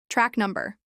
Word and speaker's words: track number: Track number. Track rhymes with back, and stress is on num in number.